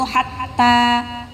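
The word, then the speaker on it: حتى: Ha di situ hatta. Langsung masuk ke ta. Hatta, bukan hatta. Nah, ya, karena huruf tanya ada tasydid. Perhatikan ya, ada tanda tasydid.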